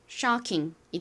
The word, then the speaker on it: shocking: ch의 소리에 ing의 잉 소리가 연결되어서 shocking이 됩니다. shocking. I는이 소리 나고는 이응받침으로 들어가죠. Shocking shocking의 의미는 충격적인 쇼킹한 이야기, 쇼킹한 장면, 쇼킹한 무대와 같이이 쇼킹이라는 표현을 많이 사용하죠.